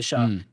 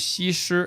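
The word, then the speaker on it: 西施: Her name is Shi. So her Chinese name is Xi Shi.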